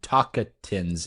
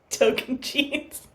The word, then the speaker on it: Tocantins: guess, who JT from Tocantins is? Token jeans. What? That is not how that word is pronounced. Say it again? No. What is it? It's not Tocantins? No. Token jeans.